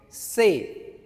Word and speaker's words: ces: is c e s and how do you pronounce it? Say.